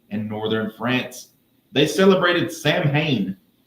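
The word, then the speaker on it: Samhain: They celebrated Sam Hayne, pronounced Oh, it's pronounced sewing over there.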